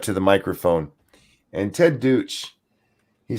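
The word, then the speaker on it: Deutch: the hallway for him, Ted Deutsch, I think is how you're supposed to say his name.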